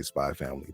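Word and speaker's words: Spy × Family: think it's spelled out Spy X Family, but you just say Spy Family.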